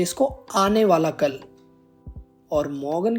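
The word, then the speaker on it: Morgen: के बाद है हमारा मॉर्गन हम इसको मॉर्गन प्रोनाउंस नहीं करते हैं इसकी जर्मन प्रोनंसिएशन होती है मोगन तो मैं यहां पर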